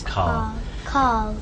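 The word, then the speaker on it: Karl: It seems like without an R. Yeah, I think it's my accent rather than. I think you said it right and I said it.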